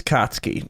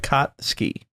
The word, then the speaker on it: Katsuki: His name is Katsuki. I've been saying it wrong. Ah, nice. It's like Katsuki.